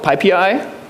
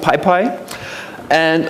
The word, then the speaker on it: PyPI: So you have basically the choice between re-implementing half of PyPI, which is not pronounced PyPy, or you end up with a clusterfuck of system packages and self-installed ones.